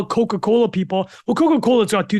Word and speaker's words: Coca-Cola: she's reading about how Coca-Cola people well Coca-Cola's got two things it's got the the strong k sound or C hard C and it also has the alliteration Coca-Cola my Google for